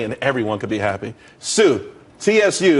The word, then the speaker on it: Tsu: there's more money and everyone could be happy Sue CSU it's pronounced Sue though that's a that's a website dot Co